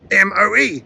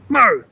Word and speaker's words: Moe: For the rest of the world, the E might be silent, but here the town is called Moe.